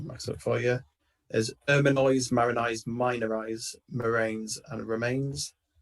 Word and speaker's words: Erminois: But no, it is Erminoise. Erminoise. See, with the Z on the end there.